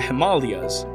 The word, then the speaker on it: Himalayas: Like how the continental Indian plate is crashing into the Eurasian plate to form the Himalayas. Yes, that is how it is correctly pronounced in Sanskrit.